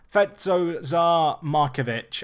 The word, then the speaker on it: Fede Markovic: He plays for Partizan, and it's this guy, Fede Markovic. I nailed that pronunciation as far as I'm concerned.